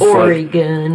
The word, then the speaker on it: Oregon: How the fuck do you mispronounce, Oregon.